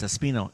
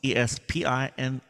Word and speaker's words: Espino: It's Martin, and the last name is Espino, Espino. And if you speak Spanish, I always say, no es Espinosa porque es otra cosa.